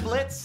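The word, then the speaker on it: Blitzø: are we yeah I'm Blitz the O is silent now I'm sure we're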